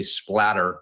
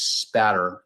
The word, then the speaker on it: spatter: A lot of people mispronounce it, say splatter with an L. It's spatter.